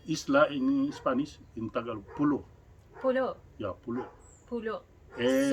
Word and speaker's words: pulo: In Tagalog, pulo.